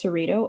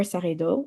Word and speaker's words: Saredo: You can pronounce my first name as Sarita or Sarido, either or is fine.